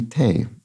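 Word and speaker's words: thé: it's a cafe and it's probably Tay French for tea t-h-e with a an accent on the E as well leave it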